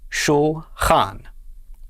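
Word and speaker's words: שֻׁלְחָן: After the lamed and shva comes a chet, which makes the sound ch. Under that is a kametz, which makes the sound a. And the nun at the end makes the sound n. So our second syllable is chan. Altogether, this is pronounced shulchan. Shulchan.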